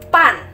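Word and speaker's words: 半: Sekarang, selain membaca 30 menit sebagai liang ke, kita juga bisa membacanya sebagai ban. Ban, B-A-N, kita melafalkannya sebagai ban.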